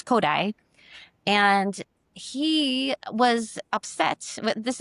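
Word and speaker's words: Kodály: It it looks like Kodali if you've seen it maybe written out K O D Apostrophe L Y, but in Hungarian you pronounce Kodai.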